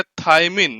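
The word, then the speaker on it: thymine: उसके बाद लिखा हुआ है टी, टी का मतलब होता है थायमिन या थायामिन, जैसा भी आप प्रोनाउंसिएट करना चाहो।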